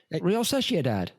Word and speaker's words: Real Sociedad: Real Sociedad.